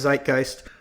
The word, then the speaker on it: zeitgeist: to go and ask my girlfriend how to pronounce zeitgeist cuz your knee trick is to say zeitgeist.